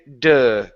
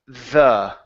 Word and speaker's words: the: t with your tongue instead of du it's thth with your tongue the the the uhhuh good now it's